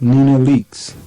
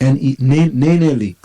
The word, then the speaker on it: NeNe Leakes: West said about Melissa, my neck snapped like Nina Leakes. Who's Nina Leakes? I don't know who that is. Keep on it. Bumping into Nina Leakes. Spell that. Nene Leakes.